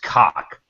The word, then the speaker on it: COC: Pretty sure it's I'm pretty sure it's pronounced cock.